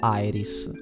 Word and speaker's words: Aeris: sintesi io la chiamerò Eris la pronuncia alla latina Eris o AIS Insomma come mi verrà mi verrà probabilmente dirò Iris Io sono Iris la